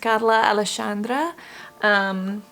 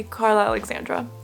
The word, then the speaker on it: Carla Alexandra: It's pronounced Carla Alexandra.